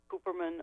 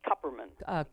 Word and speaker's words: Kupperman: And I will predict that there will be rulings that McGahn must testify, that Cooperman must testify, or is that how you pronounce it? Kupperman.